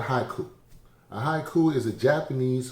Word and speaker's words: haiku: it with my wife yes haku-ism what is haku what is hakuism honey you should ask haku well it's called haiku a haiku is a japanese form of poetry